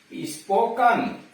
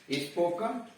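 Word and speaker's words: spoken: जिसके अंत में ईयर, ईएन, ईएनटी, ई आर हो और उसके पहले 2 या 2 से अधिक लेटर हो, यानी उसके पहले 2 या 2 से अधिक लेटर आ गए हों तो ई का उच्चारण अ होता है। जैसे टनल, टनल सुरंग, स्पोकन, स्पोकन मतलब बोला हुआ, कहा हुआ। मस्टर, मस्टर गिनती, MUSTER मस्टर।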